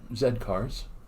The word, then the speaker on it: Z Cars: Oh, Zed Cars. I remember that. Okay. Oh, you're looking at going, oh, it looks like Z Cars, Dad. Yes, but they pronounce it Zed.